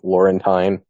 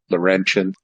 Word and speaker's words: Laurentian: Laurentine, how are you doing? I think his mic is off. Of course he is. Yeah, there we go. I'd correct you. The pronunciation is Laurentian.